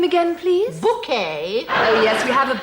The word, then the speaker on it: Bucket: events of the series she's apparently decided that it's actually pronounced bouquet it's very kind of